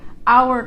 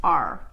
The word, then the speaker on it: our: So it sounds kind of like you are a student, you're in our class, or you're in our class, are.